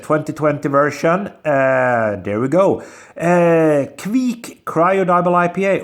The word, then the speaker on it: Kveik: Kveik Cryo Double IPA, or Kveik, or Kveik. I mean, people pronounce it a little bit differently.